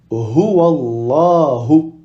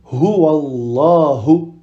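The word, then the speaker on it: الله: Alors que si la lettre qui précède le mot Allah a une kasra, alors on va prononcer les et non pas la.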